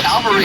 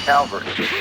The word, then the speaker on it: cavalry: the cavalry. Yeah. We need to get backups immediately. That's cavalry, not Calvary.